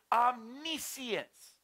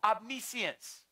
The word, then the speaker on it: omniscience: things the spirit is omniscience omnipotence Pelle exactly like Omni science but it's called Abney science but it's spelled Omni science Omni means all science